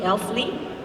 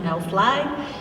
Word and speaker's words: Elfly: the uh Norwegian company Elfle. That's the way how they pronounce it in Norwegian, not LFly.